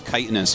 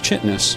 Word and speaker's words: chitinous: like for instance, chitinous. First time I ever said that, I said chitinous, and someone was like, wait, what did you say? It's like chitinous. You know, like a beetle? Like, it's chitinous?